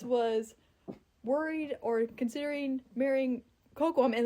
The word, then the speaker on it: Kokoum: like when Pocahontas was worried or considering marrying Kokoum." And like he was like completely biffing it on pronouncing Kokoum. He's like, "Uh uh uh." I'm like, "It's Kokoum."